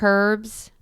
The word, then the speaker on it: herbs: picked up flowers and herbs and i said get out of my house what the did you just say i'm such a bad parent she pronounces the h in herbs maybe she thinks she's